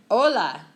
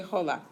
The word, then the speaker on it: hola: it's okay it's Friday hola no so what's the only letter you never pronounce in Spanish H I J is even BC bleh hola we don't say Jolla okay o year it's